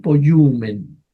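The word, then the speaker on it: ποιοῦμεν: po omen poye omen sí se puede pronunciar pero lo resolvieron de esta manera sencilla nada más decir po yumen poyen po yumen o sea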